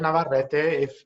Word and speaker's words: Navarrete: So my name is Navarrete. If you need help with pronunciation, you just got to roll your R's.